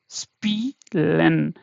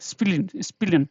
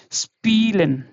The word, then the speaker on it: spielen: So whenever you see the combination of this in the between, in the middle, or anywhere you see this is stressed, this is long. Okay, the sound will be not like spillen, not like that, spielen. Yeah, so it should be little longer.